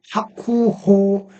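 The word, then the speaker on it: 白鵬: 이 백분도 그 아쿠호 이렇게 발음을 하는데 박 백는 초정 비유 희용으로 바음되기 때문에 백박이 그다음에 붕이 종성 이응은 장음으로 었는데 부 그럴 것 같은데 조성 비읍이 희용으로 하면서 뿌니까 하쿠호 이렇게 발음하는 걸습니다.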